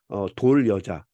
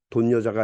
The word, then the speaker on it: 돌여자: 돌여자, 돈여자가 아니고 돌여자입니다.